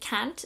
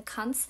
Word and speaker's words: Kant: By the way, it's pronounced Kant. Kant is a German name, and I have a German loved one who went to a philosophy class. Everybody pronounced it Kant in America, where he pronounced it Cunt, and everybody looked at him funny. So it's actually pronounced Cunt. I'm not being rude. That's actually how you say his name.